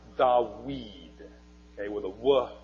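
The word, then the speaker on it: דָּוִד: was a walk duh bead would have been pronounced da weed okay with a wool sound and in fact in Arabic it still dot weed it's a wah sound in Arabic not a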